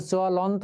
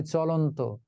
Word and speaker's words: চলন্ত: হয়ে যায় তাই না এখানে যদি শুধু ল থাকতো তাহলে হতো চলন্ত কিন্তু চলন্ত আমরা বলি না বলি চলন্ত সুতরাং চল লকার দিয়ে